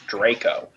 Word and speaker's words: Draco: Now, what WTF is Darko? Draco. I can't even pronounce that. It's Draco.